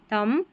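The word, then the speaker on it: thumb: है ना, देखिए एम बी है ना शब्द के अंत में, तो बी क्या रहता है यहाँ पर, ये पढ़ा नहीं जाता, एम बी साथ में रहता है आखिर में, तो यहाँ पर बी साइलेंट रहता है, जैसे लैम, थम, क्लाइम।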